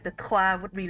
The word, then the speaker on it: trois: There's like the tr like sound at the beginning of trois, mille deux, mille trois.